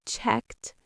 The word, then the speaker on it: checked: But we also have checked and jumped. Now remember, there are three pronunciations of the ed ending: d sound, t sound, and id sound. Checked, checked. That one ends with a t sound.